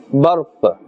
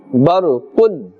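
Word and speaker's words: برق: If we are continuing, okay, if we are stopping we will say barq. If we are continuing we will say barqun.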